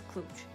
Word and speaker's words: Cluj: in romania cluj napolca often pronounced simply as clutch it is the unofficial